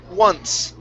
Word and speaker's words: once: All right, and our last one here, this is once. You want to start off with an oo sound here. Ooh-ah, ooh-ah, ooh-ah, once.